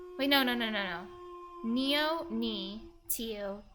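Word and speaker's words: nio: Neo and Tio are pronounced more like Nia and Tia BTW. Thank you very much. Nia and Tio. Oh, thank you. Ammonian, you're a piece of coal. Neo and Tio sounds more like Nia and Tia.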